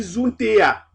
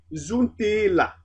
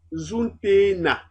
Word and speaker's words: zuntela: Parce que si on dit zuntea, la prononciation n'est pas coulante. Alors, on préférerait dire zuntela ou alors zuntena, selon votre variante dialectale.